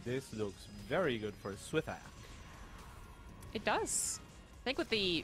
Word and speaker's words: wtih: I go with wtih. wtih, I like that. Yeah. I think it's a very American approach to pronunciation. wtih. So say all the letters. wtih. Yeah. Wait, you're skipping the H, no? That's the sound that TH makes.